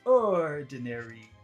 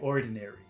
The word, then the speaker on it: ordinary: we're learning so but don't don't say it like that in real life orinary say ordinary ordinary okay but it becomes